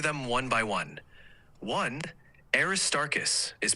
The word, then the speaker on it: Aristarchus: can hear the difference the correct one is aist starus the stress is on the second syllable tar so arist starus